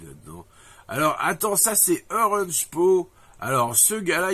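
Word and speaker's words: Oranjepoes: alors attends ça c'est Orange po alors ce garsl il s'appelle orange po alors ça s'écrit o R a n j e P o e s et il vous fait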